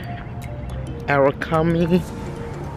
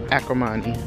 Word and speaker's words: Acrimony: I also saw Arakami. Is that how you say it? Let me start pronouncing this thing right, because I said it completely wrong first time. Acrimony.